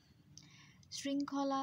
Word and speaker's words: শৃঙ্খলা: শৃঙ্খলা শব্দটির উচ্চারণেও আমরা দেখতে পাচ্ছি শৃং বলছি আমরা, শৃং বলছি না, অর্থাৎ স্ব উচ্চারণ না করে আমরা ছয়ের মতো অর্থাৎ দন্ত স উচ্চারণ করছি। এবং এই জন্য আমাদের প্রথম অক্ষর হচ্ছে শৃং হসন্ত এবং পরের অংশ হচ্ছে খলা।